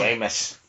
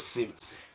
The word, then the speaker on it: Seamus: throat and cough] Sheamus is it? I thought it was Seamus. It is but it's supposed to be Sheamus. Well, my pronunciation they did it wrong in the movie.